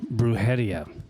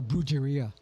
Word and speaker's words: Brujeria: Then when Jerry had once told me about Bruhia, how long at least you could say it right. Most people are bruia.